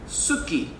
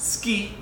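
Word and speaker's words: すき: to say it so we were practicing it like Suki and then when we found out it actually pronounced ski we had to keep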